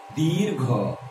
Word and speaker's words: दीर्घ: दीर्घ नहीं, दीर्घ। बोलो मेरे साथ, दीर्घ।